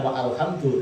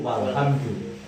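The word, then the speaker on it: والحمد: Membacanya bukan wa alhamdu tetapi walhamdu.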